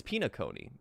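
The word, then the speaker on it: Penacony: It's like penal connie or penal colony. Penal colony. Pinaone. It's pinaone.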